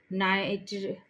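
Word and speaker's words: night: bracket कर सकते हो नाइट में जी साइलेंट है कुड में एल साइलेंट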